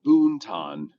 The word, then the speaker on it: Boonton: It's spelled Boonton, but we pronounce it Boonton because that's what we do.